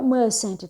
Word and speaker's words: mustn't: E no caso do must, na negação ele fica mustn't, tá? Essa é a pronúncia.